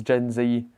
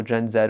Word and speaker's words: Gen Z: to steal away apple's gen z or gen zed whichever way you want to pronounce that one customers with their new galaxy zed flip 3.